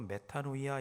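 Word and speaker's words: μετάνοια: 매운 거는 오늘 본문 말씀에 말하는 회개는 헬라어로 메타노이아 이렇게 발음합니다.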